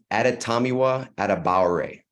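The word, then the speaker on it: Adetomiwa Adebawore: been struggling with it got you um it's atatamiwa adamaware Eddie Tommy wise awesome thanks I appreciate it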